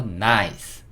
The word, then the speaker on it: nice: 여기서를 넣어 줄 거예요 그리고 묵음이를 달아 줄 겁니다 그래서 나이스 나이스 이렇게 쓸 거예요 ni C 한번